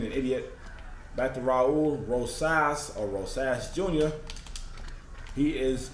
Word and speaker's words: Rosas: name is he clean no okay it's not Rose my brain farted I mispronounced the man's name earlier is Rosas Jr pardon me you know sometimes well oftentimes